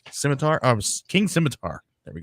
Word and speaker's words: scimitar: true goal the sword of the king uh Sai matar Scimitar of King Scimitar there we go here we